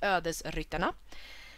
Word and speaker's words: Ödesryttarna: This is like Swedish saying it is pronounced Ödesryttarna, but in English it is Soul Riders.